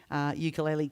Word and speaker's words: ukulele: Mine is Ukulele Queen, UKULELE, ukulele, to give it its correct pronunciation.